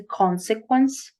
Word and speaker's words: consequence: That, after such, or so, as a result, as a consequence. Consequence. The first syllable is always stressed. Don't forget.